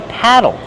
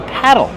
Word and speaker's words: paddle: Or I can call it a paddle. Paddle. Use a short ass sound like black cat.